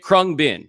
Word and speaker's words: Khruangbin: That's how you say it, Khruangbin.